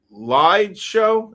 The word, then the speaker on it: Liedshow: Lied Show. Am I saying that? Lead Show? LIEDSHOW. Am I saying it right? Yeah, lead show.